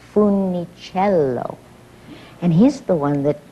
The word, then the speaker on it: Funicello: We mispronounced it. We Americanized it to Funicello. And Mr. Disney said, not only may you not change your name, but you're not pronouncing it correctly. It's Funicello.